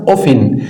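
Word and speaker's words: often: في جيبك اسمها هاو اوفن هاو اوفن التي هنا سايلنت لا تنطق وفي بعض اللغات بتنطق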